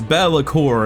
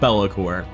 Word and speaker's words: Be'lakor: that gather your warriors I have just learned that it's bellor and not bellor I'm not sure you